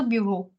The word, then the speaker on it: bureaux: Now notice that this was also bureau. This is also bureau. Why? Because AUX, it makes it plural, but it will remain same in the pronunciation form.